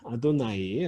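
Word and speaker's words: אדני: 생각하십시오 자염 이 두 번째입니다 자 이게 아까 아도나이 라고 제가 얘기했던 그 여호와 하느님을 아도나이 라고 하니까 그게 말이에요 거예요 아도나이 이렇게 이렇게 쓰는 겁니다 아 rw 다음에 눈 요드 구요 합 타오 탓도 나이에 아도나이 해도 나 2주 이게 바로 나의 중요할 것입니다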